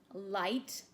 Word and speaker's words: light: one for round one light turn off the light it has some silent letters in it it's got a really weird spelling for the eye sound this was quite a